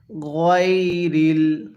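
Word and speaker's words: غير: সিরাতাল্লাজিনা আলাইহিম আরেকবার এরপরে গাইরিল কিভাবে পড়বো গাইরিল অনেকে গাইরিল পড়ি যদি গাইরিল পড়ি তাহলে পড়াটা সহি শুদ্ধ হবে না তাহলে কিভাবে পড়তে হবে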